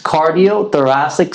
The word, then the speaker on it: cardiothoracic: It's cardiothoracic surgeon. You got to break it down in three syllables.